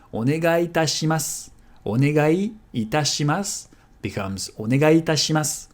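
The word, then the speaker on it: お願いいたします: And since onegai and itashimasu respectively end and start with the same vowel, they're going to merge. Onegai itashimasu.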